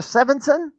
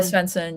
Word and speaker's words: Svensson: Sevenson. Uh Senson. Yeah, I mispronounced it.